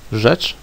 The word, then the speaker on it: rzecz: RZ, which is pronounced just like Z with the dot, is pronounced Ż. Example word, rzecz, means a thing.